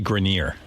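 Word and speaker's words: Grenier: Adrien Grineer and Kevin Connelly. It's actually Grineer.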